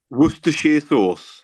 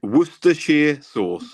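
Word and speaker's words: Worcestershire: I'd like you to um how can I pronounce please the English sauce uh was wer Shear sauce yeah this one yeah wer sheer sauce wer sheer sauce okay absolutely perfect really good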